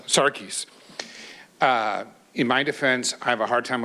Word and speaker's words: Sarkis: How do I pronounce it? Sarkis. Sarkis.